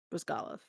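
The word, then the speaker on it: Bryzgalov: she like Anyway Elia bris galov bris galov yeah bris galov emphasis on the second salel Columbus Blue Jacket to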